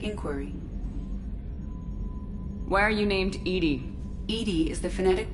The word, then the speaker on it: EDI: have a specific inquiry why are you named Edie Edie is the phonetic pronunciation of e d that is an acronym